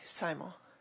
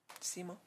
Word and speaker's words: Simo: nice good thank you jamie simon simo i'm sorry i've mispronounced your name that's okay uh it's jamie simo 517 independence drive i'm